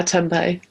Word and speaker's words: tempeh: But some of the tempeh, is that how you say it? Yeah, tempeh.